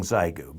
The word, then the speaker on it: Xiegu: data and single sideband i know i'm mispronouncing zygo but that's what it could sound like if it were an english word this is a qrp